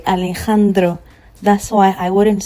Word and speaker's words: Alejandro: So, the letter J, anytime you see the letter J in Espanol, it is pronounced as H. Okay? It is pronounced as H. So with this word, for instance, I'm going to say Alejandro.